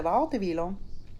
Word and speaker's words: Wartenweiler: newly designed vessel called Linda Wartenweiler, or Linda Wartenweiler, as we pronounce it in Swiss German.